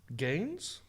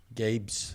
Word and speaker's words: Gabe's: But It's a he's retail saying Gaines, but I heard Gaines, but it's Gabe's.